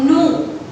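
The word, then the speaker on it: gnaw: Now kids, मैंने बोला no और no. It is G-N-A-W where the G is silent.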